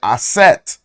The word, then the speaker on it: Aset: if we look at how it's said in fonic Egyptian you're going to say aset you still hear that